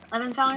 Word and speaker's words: Levenseller: going to be Blade of Secrets by Tricia Levenseller. Mm-hmm. Is that how you say her name? Levenseller?